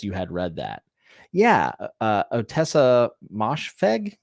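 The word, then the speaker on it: Ottessa Moshfegh: Yeah, Otessa Moshfegh is how you say her name.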